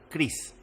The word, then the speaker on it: crease: ustedes que se llama Cris. Sí, se escribe crease, no como mi nombre, se escribe Cris.